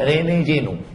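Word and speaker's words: René Guénon: Prancis namanya Rene Jeno tulisannya Rene juenon bacanya Rene Jeno karena orang Perancis tak bisa bilang r Rene Nah makanya kalau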